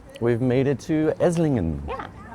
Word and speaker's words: Esslingen: We'll see you in Esingan. All right, we've made it to Esingan. Yeah, we realized the G is silent by the train now.